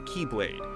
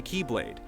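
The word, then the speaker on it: χ-blade: one must possess the Keyblade, which spelled out looks like X-Blade. The letter X represents the Greek symbol for Kai, which in the Kingdom Hearts series is pronounced as Key.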